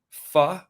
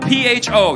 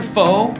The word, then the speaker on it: pho: It's spelled P-H-O. You ever heard of that soup? Yeah. Yep. When I went there, first time, I go, can I try your pho? The lady's like, it's not pho, it's pho.